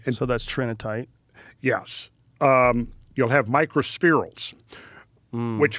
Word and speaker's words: trinitite: The tritonite, is that how you say it? Trinitite. Trinitite. When did they first started well, the first discovery of that, it comes from Trinity, New Mexico.